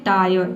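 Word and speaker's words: tyre: देखिए rule number 5 है कि यदि किसी वर्ड में IRE एक साथ हो तो IRE को हम क्या पढ़ेंगे, आय और पढ़ेंगे, ठीक है। यहाँ पे भी आधा र को आपको साइलेंट रखना है, केवल आय पढ़ना है। जैसे कि देखिए यहाँ पे है टायर, ठीक है, टी का ट हो जाएगा और IRE का हो जाएगा आय, ये हो जाएगा आपका टायर, ठीक है।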